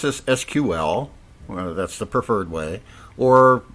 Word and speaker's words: SQL: is a self-contained SQL engine uh we can pronounce this SQL that's the preferred way or some people pronounce it SQL uh but at any rate it's a self-contained